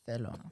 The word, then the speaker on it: Barcelona: You got to say it with the TH. Barcelona. Why? That's how they say it.